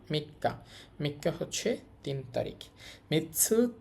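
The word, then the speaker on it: 三日: মি এটা হচ্ছে কা মিক্কা মাঝখানে ছোট সু আসার কারণে ডবল হয়ে গেছে উচ্চারণ মিক্কা মিক্কা হচ্ছে তিন তারিখ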